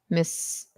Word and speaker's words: misoprostol: I don't know how to pronounce it. It's misoprostol.